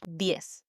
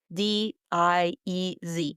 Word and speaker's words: diez: In Spanish, diez. D-I-E-Z. Diez. It's quick, almost like you're saying yes, but with a D in front.